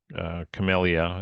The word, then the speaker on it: Camellia: Um, Camellia, it's the proper pronunciation, but Camellia enjoying is some relief from the sun.